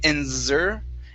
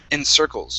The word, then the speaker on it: encircles: have the word encircles so that first c instead of saying in zur it's uh it's an unvoiced s in circles try that and circles there you go uh